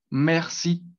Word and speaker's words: merci: La segunda palabra sería merci, ¿sí? Entonces, esa E, pues va a ser abierta, me, hasta el momento sin la R, me.